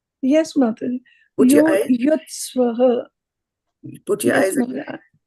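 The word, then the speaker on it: युयुत्सवः: So instead of saying sa, you were saying swa. Right? Yuyutsavaḥ. Yuyutsvaḥ.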